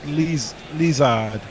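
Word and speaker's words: Lizaad: uh Clayton Nelson says I think the pronunciation as his first name is more like Le lizard uh like wellard rather than lizard if you get remaining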